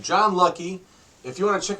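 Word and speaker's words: Hlucky: It said John Lucky. If you want to check him out on Facebook, his last name is spelled H-L-U-C-K-Y. The H is silent.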